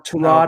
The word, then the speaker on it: Tyrod: maybe ryan fitzpatrick maybe tyrod taylor or torrad it's how he pronounces it andy dalton maybe as